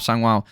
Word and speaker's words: Sangiao: Sangwo, I think is how you pronounce it, landing a spinning back fist, rocking Baatarkhuu.